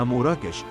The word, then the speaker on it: أموراكش: وهناك من يرى أن اسم مراكش يرجع إلى الكلمة الأمازيغية أمور نون أكوش، وتنطق بالأمازيغية أموراكش، وتعني بلاد الله أو أرض الله، وهي دلالة لها بعد عالمي والانتماء إلى الإنسانية جمعاء.